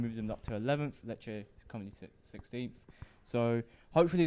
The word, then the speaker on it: Lecce: Yeah, and Lecce, is that how you pronounce the name? Lecce? Yeah, Lecce. Yeah, Lecce.